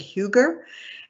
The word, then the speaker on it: hygge: It's spelled Hygge, but it's pronounced, I think, Hygge.